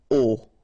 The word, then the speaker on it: au: You write it au, you pronounce it o.